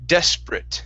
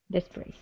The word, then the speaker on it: desperate: instead of desperate okay desperate so go right from that that P to the ruh yeah desperate one more time desperate